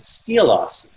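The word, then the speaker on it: Xtylos: clay paky released the I'll say it confusingly pronounced steelos fixture which is the world's first professional spot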